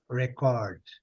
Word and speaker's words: record: A mesma palavra, quando ela é verbo, a sílaba forte é a última. Quando ela é substantivo, a sílaba nesse caso aqui, é a primeira. Record.